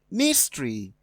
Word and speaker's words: mystery: So, going by that, we have mulatto having the stress on the second syllable, which is different from mystery on the first, pucker on the first, and public on the first.